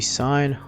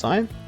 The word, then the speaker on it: sine: we do know that the sine of an angle is not sin it's pronounced sine uh the sine of